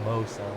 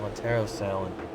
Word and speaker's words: Montero Salin: Not Mo Salin, Montero Salin. Whose name rhymes with Joe Allen.